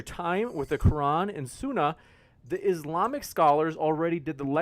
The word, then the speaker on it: Sunnah: Did I say it right? Is it Sunnah or Sunnah? Sunnah. Thank you.